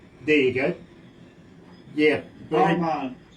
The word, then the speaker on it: Armagh: Armagh. There you go. Yeah. Armagh. Think of Armagh. Your mother, Armagh. Well, believe me, Armagh, yeah.